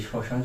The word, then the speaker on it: শ্মশান: তার উচ্চারণ হয় না শব্দের শুরুতে ম ফলার উচ্চারণ হয় না যেমন আমরা দেখতে পারি সানা এই যে শ্মশান শব্দে শ্মশান শব্দে শব্দের শুরুতে এখানে কিন্তু ম